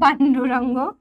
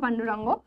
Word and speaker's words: পাণ্ডুরঙ্গ: আর 2 নম্বর যেটা, সেটা হচ্ছে আত্মারাম পাণ্ডুরঙ্গ, আত্মারাম তুকারাম ভিড়ে, আত্মারাম পাণ্ডুরঙ্গ। কোথায় শুনেছো তার নামটা? এখানে পাণ্ডুরং লেখা আছে, তো পাণ্ডুরঙ্গ নামটা অ্যাকচুয়ালি পাণ্ডুরং বা পাণ্ডুরঙ্গ দুটোই উচ্চারণ হয়।